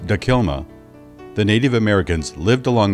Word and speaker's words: Takilma: had similar cultures but they spoke different languages pronounced dakilma the native americans lived along the middle and